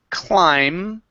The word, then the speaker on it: climb: this word here is climb the B is silent so we do not say climb with the B it's only we end on the M climb climb okay uh